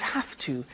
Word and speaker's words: have to: I have to notice I don't say V I say F have half it becomes half to have the two becomes